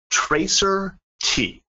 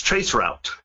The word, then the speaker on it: traceroute: how to use, and I'm going to pronounce it the way he pronounced it, Tracer T, which many people on this webcast probably caught that. It's traceroute.